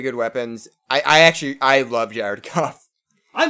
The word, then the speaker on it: Goff: I'm not huge on Jared Goff or Joff, however it's pronounced. It is Goff.